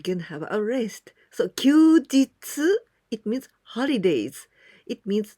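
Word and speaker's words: 休日: Together with this kanji hi, but here we pronounce this kanji kyu. Kyu, and this one jitsu. Kyujitsu.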